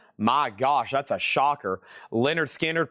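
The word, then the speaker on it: Lynyrd Skynyrd: Leonard Skinnard. Pronounced Leonard Skard.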